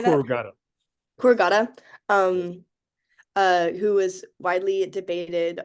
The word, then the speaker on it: corrugata: Corrugata.